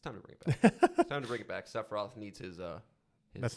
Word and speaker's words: Sephiroth: Sephiroth needs his.